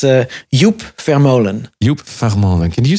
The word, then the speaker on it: Vermolen: Joep Vermolen. I want to say it correctly because you have a certain way of saying it. It's just, it's not the German way like Vermolen.